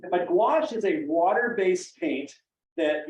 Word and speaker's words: gouache: use a paint called gouache I tell kids it rhymes with squash that's how you can remember it but gouache is a water-based paint